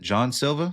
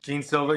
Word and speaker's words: Jean Silva: Well, the main event is going to be Diego Lopez versus uh is it John Silva? Jean Silva.